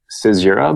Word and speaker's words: Caesura: It's called Caesura by Helios, and I'll post a link to it.